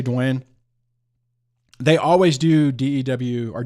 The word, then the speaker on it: Duane: And I'll say Duane.